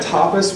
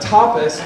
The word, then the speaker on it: tapas: a tapas bar which sounds really bad whenever you say it wrong inside of it try not to say that but it was a restaurant okay it was just a restaurant but tapas ta pas is a family-style meal